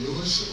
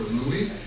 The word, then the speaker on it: Louis: Uh, the show that will follow us in here is Meet Me in St. Louis or Louie depending on where you live and what your the uh preferred pronunciation of that word is.